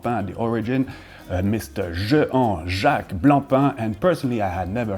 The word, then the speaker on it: Blancpain: For some, again, the magic of the French language, Blancpain, because I fully understand the desire of pronouncing this C, but no, it's a silent C, and as a little